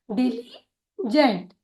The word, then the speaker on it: diligent: DI का उच्चारण होगा डी, LI का उच्चारण होगा ली, GENT का उच्चारण होगा जेंट, डिलीजेंट, डिलीजेंट।